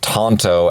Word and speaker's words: tanto: research it turns out Tonto actually is the correct pronunciation traditionally that is how you would say it in Japan which is where the